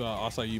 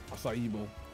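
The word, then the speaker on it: açaí: quick I think he's eating his assai bowl right now assai asai assai you should know what it is you're Californian yeah but I do know what it is but I'm yeah did I say it wrong IED no you got it right I say you what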